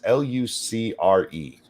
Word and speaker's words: Lucre: His name is Dom Lucre, I think is how you say it. Lucer, I'm not sure. It's Lucre.